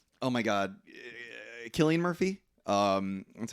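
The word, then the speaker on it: Cillian Murphy: and like oh my God Killian Murphy um that's how you say his name um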